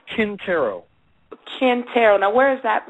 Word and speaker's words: Quintero: You're pronouncing it right. It's Quintero, but it's spelled Quintero.